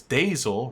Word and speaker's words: Dazil: Oo, it's Dazil rhymes with Hazel. Okay, Dasil.